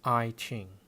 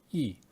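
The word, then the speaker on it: 易經: Classic of Changes, or the I Ching, pronounced by some as I Ching. You can understand how these translations came about by looking at the Chinese title, I Ching, which consists of two characters, Yi on the left, which means change,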